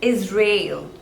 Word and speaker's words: Israel: Ireland next one is Israel two labels is Rail and the stress is on the second one rail is real is